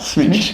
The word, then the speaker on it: Smitch: Smitch. Yep. Rhymes with itch.